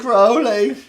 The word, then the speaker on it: Crowley: you wanna absolutely because it rhymes with holy it's not crowley he will tell me yeah every time michael is it crowley it's probably chris it's crowley yeah he calls this